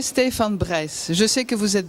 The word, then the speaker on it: Brijs: Alors là, il faut le prononcer Stefan Brijs. Je sais que vous êtes Brice. Vous dites Brice comme vous dites Digraaf, mais c'est pas grave. Mais si on veut le prononcer correctement, c'est Stefan Brijs.